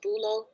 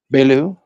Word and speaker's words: Beaulieu: Hello, is your name pronounced Bulo? Belu, Belu.